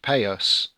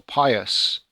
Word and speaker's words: Padius: okay just to confirm my last name padius is pronounced pretty much like payus or Pius so Pius so